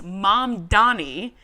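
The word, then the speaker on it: Mamdani: And then he says, also, it's mom Donnie, and if I were you, I would learn how to say it.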